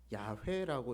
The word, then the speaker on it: 야훼: 이 아도나이라고 하는 히브리어 알파벳을 그대로 발음대로 읽으면은 야훼라고 읽어야 돼요.